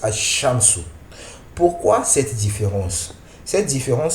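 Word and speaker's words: الشَّمْسُ: la lettre et ici le LaM du Alif Lam n'est plus prononcé donc ici on va prononcer as shamsu et non à shamsu on prononce as shamsu pourquoi cette différence cette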